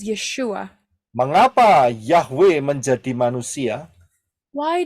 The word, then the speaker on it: Yeshua: Ayin yodin W Ain yang yang diucapkan adalah yesua and the pron pronunciation is yeshua Mengapa yahwe menjadi manusia